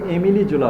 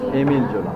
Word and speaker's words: Émile Zola: So Émile Zola, what he did, a French novelist, pronunciation is অনেকে এমিলি জোলা বলে, কিন্তু pronunciation Émile Zola.